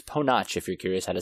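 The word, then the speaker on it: Ponoc: discover it is pronounced PO notch the directors themselves actually said it's a Croatian word that they got that from it so it's PO notch if you're curious had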